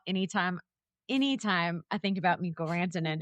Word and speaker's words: Mikko Rantanen: Mikko Rantanen.